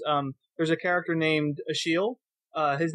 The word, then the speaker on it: Achilles: the shadow series um there's a character named a sheal uh his name is spelled it looks like Achilles but it's pronounced